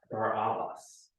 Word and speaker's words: Barabbas: Now, to his name, let me pronounce his name a little differently. Barabbas. Do you hear any word in there that you know? Abba.